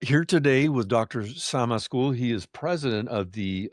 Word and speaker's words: Azkul: Azkul. He is president of the American Alliance for a Democratic Syria. Did I pronounce that correctly?